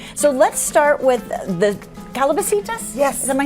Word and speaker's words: calabacitas: So, let's start with the calabacitas.